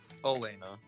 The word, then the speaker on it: Helena: Oh, Elena. Oh. Elena, yeah. I was so confused by the H. H is silent.